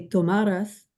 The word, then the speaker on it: tomarás: So the only thing I'm going to point out, you want to make sure this is tomarás, tomarás, boom, boom at the end, tomarás, right?